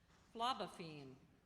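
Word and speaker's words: phlobaphene: Are there any alternate pronunciations? No, there are not. Niveau. N-I-V-E-A-U. Niveau. That is correct. Phlebophene, a reddish-brown complex substance found in oak bark.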